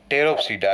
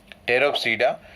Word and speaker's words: Pteropsida: And the last one, that is fourth class, is the Pteropsida. Again here P is silent. Pteropsida, where the examples are Dryopteris, Pteris and Adiantum.